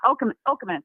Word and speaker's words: Okemos: I think it's pronounced Okemos. Okemos, is that right? Yeah, Okemos.